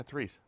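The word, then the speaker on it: Reiss: It's not R-E-I? Yeah, it's Reese. R-E-I is right. Sam. It's Mike Reese. But that's how it's spelled.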